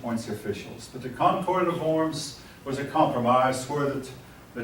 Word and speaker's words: Worms: Pardon me, folks, it's Worms. It's spelled with a W.